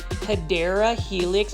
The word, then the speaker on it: Hedera helix: This is a Hydra helix. Or the correct way to say it is Hedera helix, or what you call the English ivy.